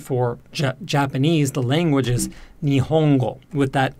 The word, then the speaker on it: 日本語: Again, it's not Nihongo, but Nihongo.